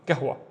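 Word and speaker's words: قهوة: Remember G and then W gwa gwa and gahwa is coffee gahwa. Next one we have two syllables again the first syllable is fin.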